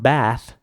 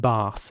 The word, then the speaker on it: bath: in England would again pronounce the A like an R sound. So not bath, which would in fact be American, but bath.